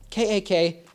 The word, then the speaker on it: KAK: PSR holy smokes yes kak that's pronounced k-a-k not CAC in Dutch that's a bad word okay we get it